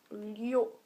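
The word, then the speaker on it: liù: Et celui-là, il se prononce Lio. Donc Lio, quatrième ton, voilà. Et ça s'écrit comme ceci. Ceci est un L, je précise, parce que j'écris un peu bizarrement en fait. Ça, c'est un L. Donc c'est L-I-U et quatrième ton.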